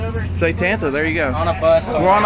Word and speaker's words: Satanta: guys see if y'all can say it correctly say tanta there you go we're on a bus okay